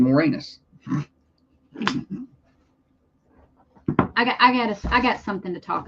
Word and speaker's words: Moranis: That's his name, Moranis.